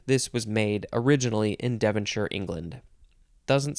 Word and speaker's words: Devonshire: is two words and it is pronounced Devonshire sheer or sure not Shire that's not how you say this word noun from 1791 the